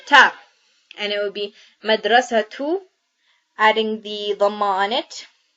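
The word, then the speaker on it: مدرسة: So when we stop on a ta marbuta, it is pronounced as the letter ha here. So we're going to write down all the letters plus the short vowels of it. And it would be madrasa.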